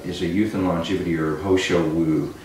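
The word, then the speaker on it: He Shou Wu: And so this one is a youth and longevity herb, Ho Shou Wu. It's funny, it's spelled H-E, but it sounds like it should be H-O. It can be either way.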